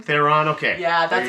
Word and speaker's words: Theron: Theron. Theron.